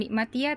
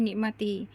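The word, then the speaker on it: نعمتي: Nah, jadi kita kembali ke asalnya ya membacanya bukan nikmatya tapi nikmati.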